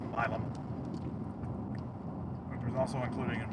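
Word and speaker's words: Milam: I like it why it said Milum. It's actually pronounced Milum which was also including in Bassrop County as well.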